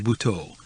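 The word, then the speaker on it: Buthaud: on today's market it's a Rene bhau spell that b u t h a u d we have a shop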